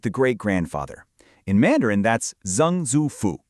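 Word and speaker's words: 曾祖父: In Mandarin, that's Zang Zufu, pronounced Zang Zufu.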